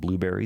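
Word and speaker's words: Blubrry: our podcast hosting site that's called blueberry that's spelled b l u b r r y if you want to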